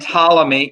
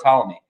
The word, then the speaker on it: Ptolemy: former persian empire and ptolemy yes that is a silent p like pterodactyl who is going to